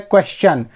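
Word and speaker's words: question: S letter लगा हो तो वहां पे टी आई ओ एन को चन उच्चारित करते हैं जैसे एक शब्द है क्वेश्चन आपने बहुत बार बोला होगा या सुना होगा क्वेश्चन लेकिन कभी आपने उसके स्पेलिंग पर ध्यान दिया है उसकी स्पेलिंग होती है क्यू यू ई एस टी आई ओ एन क्वेश्चन क्वेश्चन नहीं बोलते क्वेश्चन तो इसी तरह से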